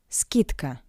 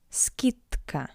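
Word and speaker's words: скидка: Skitka. The voiced consonant D in front of the voiceless consonant C sounds like its buried consonant t. Skitka tk skitka.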